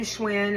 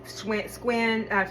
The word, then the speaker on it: Schwinn: Skylar, spelled Schuyler, leads people to think Schuler, because they pronounce that shoe instead of sky, right? It's like we do Schwinn instead of squin.